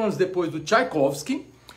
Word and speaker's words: Tchaikovsky: Em inglês eles botam com W em vez de V, Tchaikovsky. Eles pronunciam assim, Tchaikovsky. E eu falei, Tchaikovsky. Em italiano eles pronunciam Tchaikovsky com C. C-I-A, Tchaikovsky, não tem T.